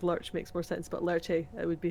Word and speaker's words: Lerche: For us English speakers, Lurch makes more sense, but Lerche, it would be how because you would pronounce the E in Japanese.